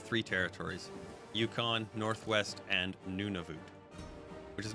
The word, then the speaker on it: Nunavut: territories yukon northwest and nunavut which is not actually pronounced none of it it's nunavut noon time ah and then voot rhymes with boo una vu and yeah